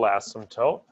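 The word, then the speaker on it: asymptote: the vertical ASM toote always think that word ASM toote is spelled funny the p is sort of silent so if you're going to pronounce it would be ASM toot anyway the as vertical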